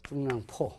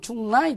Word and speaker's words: 중량: 예를 들면 확실히 이러면 하시리, 경제, 갱제, 누구 말 같기는 하지만 이 중량 발음을 못해요. 일본 사람들이. 중량하면 중랑이 돼버려요.